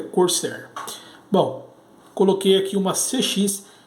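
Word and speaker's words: Corsair: a cor certa tá cursar Corcel né a pronúncia correta é cor certa bom coloquei aqui uma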